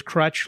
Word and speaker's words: Kroetch: when we first met you said it was crutch like a crutch like someone would uh use a crutch right yeah